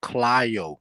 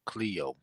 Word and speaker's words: Clio: Hey, Bap, it's pronounced Clio, not Cleo.